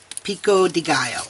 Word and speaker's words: pico de gallo: for yeah the the pico de gallo the pinko de gallo how do you say Jeff pico de gallo okay so the pico de gallo carne asada